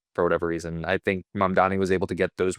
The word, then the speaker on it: Mamdani: Mambani? The election. Mamdani. Yeah, no one can pronounce his name.